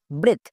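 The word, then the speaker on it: breath: রকম ভাবে বি আর ই এ টি এইচ ব্রেথ এফ আর ই এ D Fred so ই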